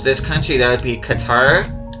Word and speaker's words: Qatar: And House of Tani rules this country, that would be Qatar. I've also heard it pronounced gutter or cutter, but I've said Qatar. That's what I normally say.